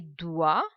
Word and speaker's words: doigts: Les doigts. Now here we are pronouncing only till OI. The sound OI is OA. Les doigts. Last three letters, silent. Les doigts.